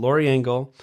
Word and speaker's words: Lori Engel: We have a special guest, Lori Engel. Did I pronounce that right? Yeah. Okay, so Lori Engel.